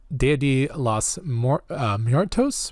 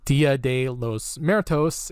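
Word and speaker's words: Día de los Muertos: my favorites we have the Dia de los more toasts which I think I've just mispronounced dia de los muertos in Modesto and the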